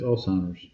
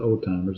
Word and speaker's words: Alzheimer's: Yeah, it's Alzheimer's. It's not old timers. It's Alzheimer's.